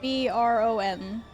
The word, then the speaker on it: Bron: It's spelled like B, like Oscar said, B-R-O-N.